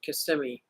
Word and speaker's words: Kissimmee: babe that's right Bob that's right way to pronounce it Kissimmee Kissimmee snailed it nailed